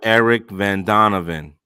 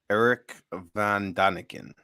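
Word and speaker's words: Erich von Däniken: nibiru the tenth planet and then you have eric van donovan and he has um i think his name is eric eric van daneven check that out chariots of the gods i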